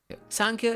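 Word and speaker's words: Sāṃkhya: Sankhya is Sankhya. It's Sankhya, but it's spelled S-A-M.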